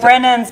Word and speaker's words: Brennan: And it's spelled A-N. Yes, right? like Brennan's, but with an A. Yeah, like Brennan's down in New got Orleans.